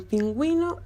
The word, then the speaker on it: pingüino: Es un signo ortográfico que se pone sobre la vocal U cuando esta letra debe sonar, como en las sílabas hue, wi. Aquí tenemos los ejemplos en pingüino y cigüeña.